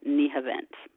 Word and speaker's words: Nihavent: So Hijaz and Nahawand are Turkified as Hikaz and Nihavent. Which is funny because in Turkish they sound the same.